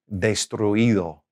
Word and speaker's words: destruido: ends with UIR, okay, then you don't have to put an accent on the I. Here's an example. Destruir, to destroy. Destruir, okay? So that past participle will be destruido. So we don't really have an accent there, all right?